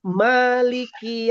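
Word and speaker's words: مالِكِ: Di sini mimnya itu fathahnya itu ada mad thobi'i dibaca dua harakat. Maliki yaumiddin. Beda dengan seperti ini. Anas mali. Beda kan mimnya kan. Nah, ini fathah biasa saja.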